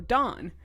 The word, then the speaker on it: Dawn: this I'm like yeah we don't pronounce the W he's like you're supposed